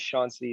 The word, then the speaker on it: Seancey: is actually super informative my name is shaun c it's just a funny way to spell it all right you're irish